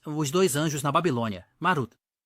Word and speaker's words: Marduk: da cidade da Babilônia marduk é o nome comummente associado à divindade nos tempos modernos no entanto Na verdade era pronunciado marut na Babilônia os estudiosos acreditam que